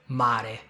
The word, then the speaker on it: mare: Listen to the R, mare, with only one vibration.